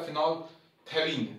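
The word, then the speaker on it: phenolphthalein: तो फिनोप्थेलीन एक बार आप देख लो दोबारा से, पी एच ई एन ओ L, phenol, ठीक है, पी साइलेंट था, फिनोप्थेलीन, टी एच ए एल ई आई एन, फिनोप्थेलीन।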